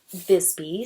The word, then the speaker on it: Visby: how you pronounce it it's spelled WI SBY but I know the town is pronounced Visby so um anyway I don't